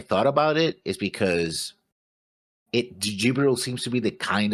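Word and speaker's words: Djibril: Jibril, or just Jibril, because a D is silent, I suppose, claims that destroying the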